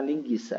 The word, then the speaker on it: linguiça: Esse sinal aqui não existe mais. Ok? Mas ele continua sendo... É porque o trema foi abolido que a gente pronuncia linguiça. É linguiça. É a pronúncia correta.